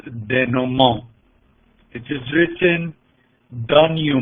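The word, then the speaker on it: denouement: untying the notes or as the french says de nomo it is written down you meant but it's pronounced de nomo the ghost scene is important it shows the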